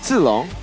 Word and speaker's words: Zilong: So apparently, we pronounce Mia Maya now. Yeah, it's Maya. Apparently. Maya. And Zilong is what? Zilong.